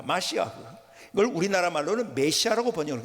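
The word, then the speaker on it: מָשִׁיחַ: 그러니까는 여러분 우리가 메시아라고 하지만은요, 구약의 원래 히브리어의 발음을 그대로는 마시아흐 그럽니다. 마시아흐.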